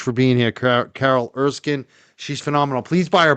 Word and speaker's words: Erskine: And uh you can search Judge Carol Erskine. I'm spell it's actually pronounced Erskin, but it's spelled Erskine with it.